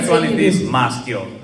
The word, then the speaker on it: Maschio: Maschio, but also Mascio, it is accepted. It's Maschio, right?